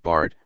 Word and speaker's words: Bhārat: the geographical term term Barat pronounced Bart listen which is recognized by